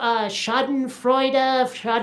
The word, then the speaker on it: Schadenfreude: I'm never sure if I can pronounce this properly, but Schadenfreude, You got it.